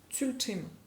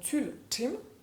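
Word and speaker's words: ཚུལ་ཁྲིམས: Ensuite, le terme tibétain, donc tul-tim, c'est en 2 syllabes.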